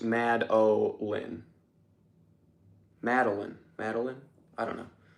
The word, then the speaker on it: Madeline: Also, Madeline is pronounced Mad-O-Lin.